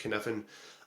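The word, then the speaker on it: Cynefin: Um so there's so David Snowden um he came up with a kfan model uh which is like c y nef i n but it's just pronounced kfen.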